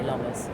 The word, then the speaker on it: Lommers: Apparently it's pronounced Lommers. I say Lommers. Potato, potato.